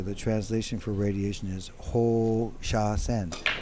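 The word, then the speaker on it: 放射線: So the translation for radiation is Ho Sha Sen. So the reason that I pronounced the Ho very long is with that little thing on the top of the O means you pronounce O twice.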